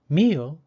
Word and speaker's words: meal: Meal is spelled M-E-A-L. Because E and A are both vowels, the second vowel, A, is silent, and the first vowel, E, takes the long E sound.